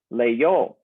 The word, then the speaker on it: leyó: Well, when you have the E, I, and the O, the I in the middle becomes the Y sound, leyó.